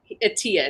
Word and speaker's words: Attia: It's Attia is how you say it.